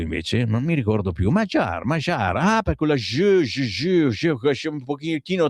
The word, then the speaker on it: Magyar: Sammy, si pronuncia Magyar. Ecco. Grazie, ciao. E io cosa ho detto invece? Non mi ricordo più. Magyar.